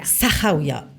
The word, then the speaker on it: Sahraouiya: participer au raid de Sahraouia. J'espère que je l'ai bien prononcé. Sahraouia. C'est mieux comme ça.